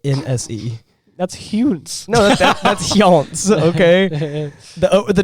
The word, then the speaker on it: Hjönse: No, that's Hjönse, okay? The 2 dots, okay, we don't pronounce the 2 dots because we don't know what they mean.